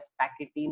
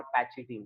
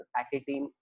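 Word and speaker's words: pachytene: That third phase is called as पैकेटीन और पैचिटीन। पैचिटीन general नहीं pronounce करते, पैकेटीन common pronunciation है इसका।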